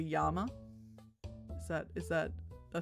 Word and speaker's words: llama: Double L is pronounced like Y. But other than that, uh, you're doing pretty good with a Spanish. So if they saw the word llama, they'd call it a yama.